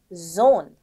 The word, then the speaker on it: Sohn: 어떤 경우냐면 모음 다음에 하가 왔을 경우 모음 다음에 하가 오게 되면은 하 발음이 안 되고요. 대신에 그 앞에 있는 모음을 길게 좀 읽어주시면 좋을 것 같습니다.